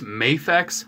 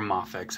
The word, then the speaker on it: MAFEX: so i've had this mayfax hush batman or moffix however you want to pronounce it anyways i've had this